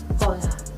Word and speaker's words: hola: Alright, so first things first is hello, which in Spanish is hola. Hola. The H's have a silent sound in the beginning of the word.